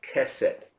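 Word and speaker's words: chesed: you the word huh we pronounce it as cassette but it's spelled c h e s e d cassette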